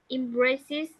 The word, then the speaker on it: emphasis: the bird, where the emphasis is on the speed of the action. Okay, emphasis. Emphasis. Yes. So don't forget when it's P and H, P. it usually sounds F.